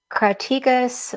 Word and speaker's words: crataegus: And it was also called crataegus, which means flowering thorn. That's how you pronounce that name.